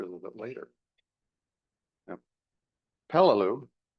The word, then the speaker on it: Peleliu: Now, Peloo, how it's pronounced, is in the central Pacific, not very far from the equator.